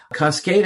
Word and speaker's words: Coskata: Yeah, we pronounce it Coskata. Okay. Coskata-Coatue. Coskata is one of my favorite places on the planet.